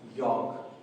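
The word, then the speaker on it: yolk: अगर एल के साउंड के साथ पढ़ते हैं तो योक लेकिन अगर एल को हम साइलेंट करते हैं अकॉर्डिंग टू द रूल तो यहां पर ये बन जाता है योक।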